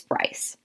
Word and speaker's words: Bryce: charles town area but of course over the many hundreds of years they adapted the english pronunciation of the name and that is why i go by bryce so please don't call me breese it's it's bryce my mother's mother's lineage